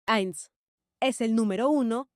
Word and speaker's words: eins: veamos los números uno por uno uno se pronuncia eins es el número uno y se usa en